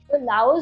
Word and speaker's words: Lao: say both “Laos” and “Lao” in this video. “Laos” is the English pronunciation, but locals say “Lao” because the official name is Lao People’s Democratic Republic.